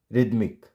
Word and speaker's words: rhythmic: और ई आपको पता है जब भी वर्ड के लास्ट में होता है तो साइलेंट होता है, तो राइम। Next, rhinoceros. And next one RHYTHMIC, रिदमिक, रिदमिक।